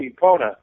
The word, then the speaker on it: Epona: Another one is how do you pronounce that? Ipana Farms there, Hank. Oh, that's my wife's writing academy. It's called Epona.